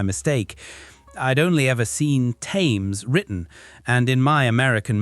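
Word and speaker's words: Thames: I learned the hard way that some famous place names aren't pronounced the way they look.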